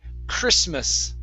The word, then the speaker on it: Christmas: the last one here christmas okay the t is silent here so it's christmas christmas okay very nice